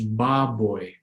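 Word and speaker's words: baboy: a terrific Oh Hawaii is boy like we have an English boy or toy boy so the word on the far right is the word for pig or pork and that's Bob boy Bob boy iw is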